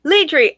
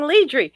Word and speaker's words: Ledri: melcybaku so fun right oh ledri i've been saying leadry your name is zara